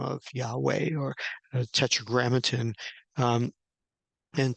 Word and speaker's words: Yahweh: how this is pronounced we do understand that the first two uh consonants the yod and the he are pronounced as yah and that is substantiated by all the words that we have in Hebrew that end with yah like huah Elijah adonijah